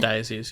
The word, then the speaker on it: diocese: Diocese? Is that how you say it? Diocese, yeah. Okay, sorry.